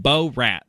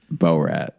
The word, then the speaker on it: Borat: The first few times you said Borat, and that is just not how it's pronounced. Borat.